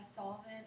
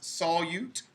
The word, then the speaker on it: solute: two parts of a solution yes Amy uh solent and solute okay it's pronounced solute like a with a Y in it but